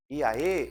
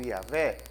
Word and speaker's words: Iavé: Iaê ou Iavé, pode ser pronunciado dessas duas maneiras, né? Mas Iavé, vamos falar Iavé.